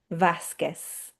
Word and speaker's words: Vasquez: Vasquez, Velázquez, Quiros. Okay, so similarly, if GE is pronounced he with the soft h sound, and